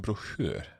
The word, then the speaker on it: broschyr: Det ligger en liten broschyr. Ja, so the receptionist, he pronounced it broschyr. Broschyr, okay. When I say it, I say broschyr.